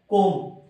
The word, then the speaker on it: comb: ఇక్కడ ఈ వర్డ్ మనకి చివర్లో MB తో ఎండ్ అయింది, M తర్వాత B వచ్చింది కాబట్టి B silent. So COMB is pronounced as comb.